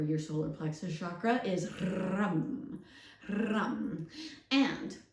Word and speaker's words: ram: The sound for your solar plexus chakra is rum, rum. And rum, R-A-M, pronounced R-U-M if you speak of the English, and it is pronounced rum.